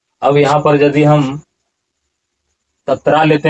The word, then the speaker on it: तत्र: और इसका उच्चारण आप कीजिए शब्दों का सही उच्चारण कीजिए यहां पर तत्रा पश्यति अस्थतान पार्थ पितृथ पितामह ऐसा उच्चारण होगा